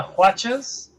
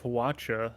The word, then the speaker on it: Hwacha: Wonderful pronunciation of Hwacha. I'm glad you pronounced it right. I prefer to say Hwacha like a whip cracking, but that's just me.